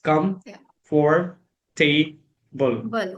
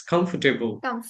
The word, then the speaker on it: comfortable: I used to say like it come for table. Come for table. Some com come for table something like that. But uh when I started my journey, I started listening to sguru. From there I picked it up like it's not comfortable, it's comfortable. or I I started listening